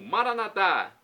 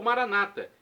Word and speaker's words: Maranatá: E agora do aramaico eu clamo, Maranatá, como dizemos nós católicos, ou Maranata, como dizem nossos irmãos separados, os evangélicos ou protestantes. Não importa a pronúncia, o significado é o mesmo. Vinde, Senhor Jesus.